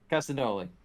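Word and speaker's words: Castagnoli: claudio uh castanoga uh no glee i can't pronounce castanoli castanoli thank you uh it's like cassanat cassayanos but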